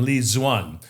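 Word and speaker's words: Lê Duẩn: These are the two errors that he's accused of by a guy named Li Zuan, which is spelled Leduan.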